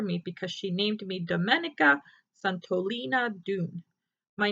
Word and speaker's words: Domenica: woods in a river my name is pronounced in the Italian Way Dominica domenica santolina doon it's a